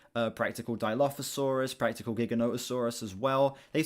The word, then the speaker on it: Giganotosaurus: You get into the back half of the film where we see, like, practical Dilophosaurus, practical Giganotosaurus as well. They pronounce it Giganotosaurus in this film, by the way.